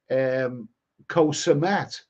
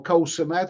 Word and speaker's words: Koh Samet: the very, very lovely Koh Samet, or Koh Samet as some people pronounce it.